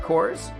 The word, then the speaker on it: cores: Please not cores. Cores is one syllable because it's an acronym.